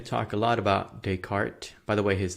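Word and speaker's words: Descartes: talk a lot about decart by the way his name is U he's French so that's how you pronounce it decart and uh we're going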